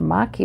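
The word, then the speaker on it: maqui: interesting your plant is Makai Berry interesting it turns out this is pronounced mockey Berry I'm learning as you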